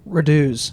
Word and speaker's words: Raducz: It's like a American pronunciation of a Polish respelling of a Russian word.